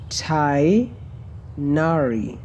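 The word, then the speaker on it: Tighnari: all the way here tainari so the g is silent and I is like an AI but not an double e not a double e so chai nari on the entire way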